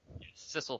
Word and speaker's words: Sissel: Sissel, so it rhymes with missile.